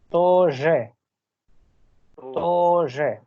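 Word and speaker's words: тоже: मतलब मैं तो पाउस देके इसलिए बोल रहा हूँ जिससे समझ में आ जाए, लेकिन जब बोलना है आपको तो तोजे बोलना है, बिना किसी पाउज के, तोजे।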